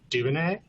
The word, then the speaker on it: Duvernay: It's a classic New Orleans cocktail, rhymes with my last name, Duvernay.